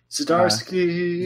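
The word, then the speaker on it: Zdziarski: Jonathan, oh gosh, I don't know how to pronounce his last name. Zdarsky.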